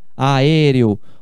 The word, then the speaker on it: aéreo: Aéreo. O acento é por causa da regra. Quando você pronuncia aéreo, é uma proparoxítona, é uma esdrúxula.